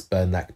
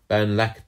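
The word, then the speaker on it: Bernlak: Green Knight uh Reveals His Name which is burlak the OD Des sorry burnac the OD Des can you spell that please burn laac spelled here is b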